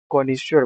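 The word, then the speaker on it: connoisseur: तो कोनेश्वर अब प्रोनाउंसिएशन करने में क्या आ रहा है? ईश्वर। तो ईश्वर ही एक्सपर्ट होते हैं। विशेषज्ञ होते हैं जिनको सब चीज की नॉलेज होती है। तो आप जब भी ये वर्ड देखो तो आप इसको इसी तरह से प्रोनाउंस करो ना कि ये क्या लिखा है?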